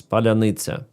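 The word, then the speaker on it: паляниця: H control word it's palita. So Russians cannot pronounce it. Their jaw is built differently. Just joking. So they they don't have this and like mixing those e they cannot do it.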